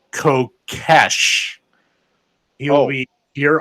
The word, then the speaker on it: Kokesh: because I mispronounced his name. It's Kokesh.